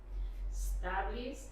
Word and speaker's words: established: Established. But there's a sound at the beginning. Establish. Establish. Like España. Yeah? Establish. Establish. And then established. Si es pasado, esa ED va a sonar como una T.